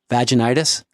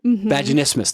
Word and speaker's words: vaginismus: know that have and i always pronounce it wrong but vaginitis vaginismus vaginismus that's it yeah incredibly common for women